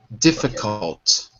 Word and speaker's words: difficult: pronunciation issue which is the L in difficult we don't say it it's silent difficult difficult difficult not cold